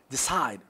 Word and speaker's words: decide: For adjective, okay, let's move, decide, decide, okay, decide, decide, sigh, so it is on the second, on the second.